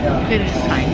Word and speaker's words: Friedrichshain: Yeah, Friedrichshain.